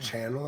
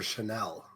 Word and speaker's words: Chanel: Wait, is that pronounced Channel or Chanel? Chanel. No. Okay. All right. Yeah. Yep, you're good. 2 ends is Chanel, 1 end is Chanel.